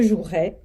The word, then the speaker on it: jouerai: au conditionnel présent donc le verbe se conjugue normalement mais on ne prononce pas le E donc au futur ça donne je jouerai et non pas je